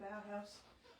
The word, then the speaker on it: Bauhaus: The ones on the front of the rings are the Stamperia Bauhaus. Is that how you pronounce it? Bauhaus.